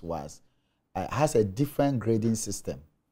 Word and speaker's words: WAEC: Difficult in the sense that the BECE, unlike the WAS, or what people normally call WAEC, even though the right pronunciation is WAS, has a different grading system from the WAS.